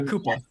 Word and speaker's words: Cooper: Roy Koopa is how his family apparently pronounced it.